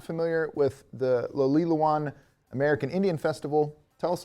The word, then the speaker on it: Lawilowan: So I am joined by Arvel with now in advance, I've been working on the pronunciation of this, Lawilowan? Yes. Lawilowan American Indian Festival.